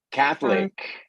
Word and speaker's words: Catholic: Catholic. Pronúncienla todos. Catholic. Es como mathematics. Problemático para nosotros los latinos entender que puede haber ese sonido seguido de otra consonante. Problemático.